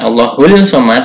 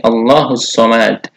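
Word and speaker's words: ٱللَّهُ ٱلصَّمَدُ: Disini langsung kepada sholat ya bukan allohul Somad tetapi allahussomad lalu pakai al-falaq itu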